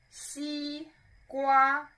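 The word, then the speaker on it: 西瓜: sequa sequa see Gua this word has two characters obviously and one side note is every Chinese character is one syllable okay so we've talked about third town shui Oh tranquil and now see Gua both of them are first to tell so you can imagine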